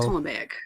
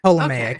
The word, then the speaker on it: Ptolemaic: That one, the P is silent. Yeah, so Ptolemaic. Ptolemaic.